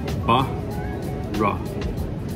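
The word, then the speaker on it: Borough: This word looks strange, but the pronunciation is actually quite simple. Ba-ra, ba-ra, ba-ra, Bara, Bara, Bara, Bara Market.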